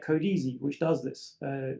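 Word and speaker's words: Kodezi: tools out there like code easy which does this uh it's spelled a completely unintuitive way k-o-d-e-z-e how easy what it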